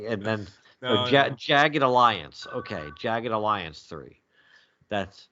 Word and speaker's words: Jagged Alliance: the 90s so I'm seeing denim jackets but jacked Ellis or I probably I'm pronouncing it wrong checked Alliance perhaps Jagged Alliance Jagged Alliance okay okay you say check it